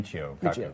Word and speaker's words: Michio Kaku: Is that how you pronounce his name? Yeah, Michio Kaku.